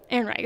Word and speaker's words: Ehrenreich: I don't know how to pronounce his last name. Alden Ehrenreich. Ehrenreich.